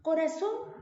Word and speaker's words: corazón: Corazón es una palabra que se divide en ¿cuántas sílabas? En 3. Perfecto. Corazón. ¿Sí? Hasta ahí estamos bien. Entonces, ¿dónde lleva la mayor fuerza de voz? ¿O cuál es la sílaba tónica? En este caso sería son, ¿no?